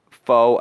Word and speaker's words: faux: taken away because of faux outrage which is actually spelled like with a u and an x if you could believe it um yeah i i've